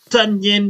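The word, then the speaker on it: Tonyan: touchdown pass to robert tanyan running down the middle of the field stumbling bumbling rhymes with bunion because it's fun when you score also rhymes with onion because the [ __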